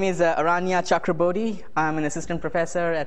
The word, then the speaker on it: Aranya Chakrabortty: one more time just for the sake of pronouncing my name correctly uh my name is Aria chakra I'm an assistant professor at NC State uh